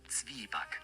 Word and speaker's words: Zwieback: How to pronounce? Just say it. Zwieback.